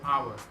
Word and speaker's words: hour: Sometimes it's not pronounced at the start of a word like honest and hour.